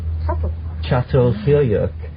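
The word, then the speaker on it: Çatalhöyük: It's actually spelled C A T A L, but it's called Sat Chatyuk.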